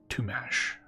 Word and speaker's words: Tuomax: You pronounce it Tumash.